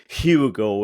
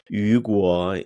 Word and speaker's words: Hugo: sure okay uh so my name is Ugo that's the way you would pronounce it in Spanish but I'm used to hearing Hugo in English and Yuga in Chinese I I like a